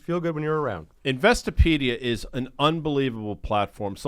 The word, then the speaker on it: Investopedia: Caleb is the editor-in-chief of Investopedia. See, I pronounced that correctly, by the way.